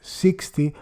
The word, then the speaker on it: LX: the planet Polisorbate LX, LX pronounced 60 after the preservative.